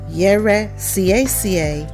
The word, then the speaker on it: Yɛresiesie: So, the first syllable is Ye. Ye. So the E is pronounced like the E in bed. It's an open sound, not a closed one, like A. It's Ye. Re, Sie. Each one is a distinct syllable.